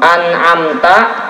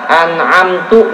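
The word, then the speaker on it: أنعمت: Contoh, an'amta dibaca an'amtu misalkan, itu merubah arti, dan itu salah yang jelas dan hukumnya dosa.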